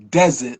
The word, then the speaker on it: Dezit: a God for you so it's enunciated desert like the desert sand so I spell it that way and because of course spelling it like the way you say it it's too close to dessert right and I've I've